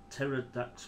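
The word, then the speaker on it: Pterrordax: Pterodax with a silent P.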